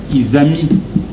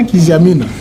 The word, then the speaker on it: Izami: Izami. Izami. C'est pas Kizamina. I comme innocent, Z comme Zahir, ami comme un ami.